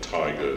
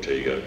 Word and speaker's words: Tiga: You couldn't have Tiger GR because Leyland owned that on the trucks. But there's jaguars and leopards and all that stuff. So anyway, we can pronounce it Tiger, animal, sort of, and T-I from Tim, G-A from Ganley.